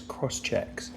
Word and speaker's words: Crosschx: Cross checks. But it's spelt CROSSCHX.